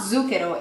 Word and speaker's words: zucchero: of sugar, which is zucchero. Now, pay attention to the Z. We really pronounce the Z harsh, so it's not zucchero, it's zucchero. Zucchero, really big emphasis on the Z.